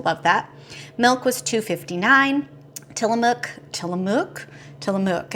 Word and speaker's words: Tillamook: Tillamook. It rhymes with book, I think, for those who are around.